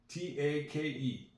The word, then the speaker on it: take: That's a silent E. There's another vowel in the word. The vowels are in red. Take. The silent E at the end usually makes the other vowel sound like itself.